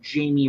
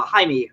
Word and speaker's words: Jaime: by the name of Jamie Reyes uh he has uh or uh Jaime Reyes I should uh pronounce it correctly he is uh currently